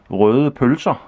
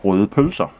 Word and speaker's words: røde pølser: And these sausages is called røde pølser, and if you can pronounce that, you're a true Dane, because it's